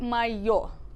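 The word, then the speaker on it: моё: So this word, mayo.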